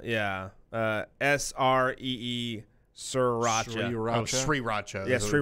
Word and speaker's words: Sriracha: who says it wrong last but not least sriracha is pronounced wrong by a lot of people now now they say Si Racha yeah sree sriracha ro Sri Racha yes Sri Racha City I've